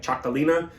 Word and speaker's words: Txakolina: I'm assuming the TX is a CH sound, just like Txakolina is a TX, so it makes a CH sound.